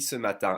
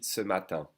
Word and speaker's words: ce matin: When the French speak fast, they will tend to pronounce ce matin. Skip the E and connect the S sound to matin.